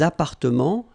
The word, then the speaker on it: appartements: Remember, final S and final T are not pronounced here. Des appartements, little liaison here, des appartements en copropriété.